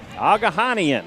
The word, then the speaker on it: Agajanian: Agahanian, okay. We were close. I like your pronunciation better. Agajanian? Agahanian, that's what... and I got to believe him because he actually went to the teams and actually asked for pronunciations.